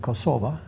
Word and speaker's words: Kosova: had all rights to an independent kosova in Albanian pronunciation but they couldn't take